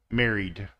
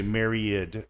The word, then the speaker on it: married: sound So Married merry married and again a lot of people say Myriad but it's not it's married married one sound so it's Mary doesn't like two syllables smile smiled smiled perform